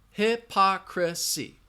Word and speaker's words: hypocrisy: the next word hypocrisy hypocrisy has four syllables hypocrisy hypocrisy that schwa is in that third syllable now you guys you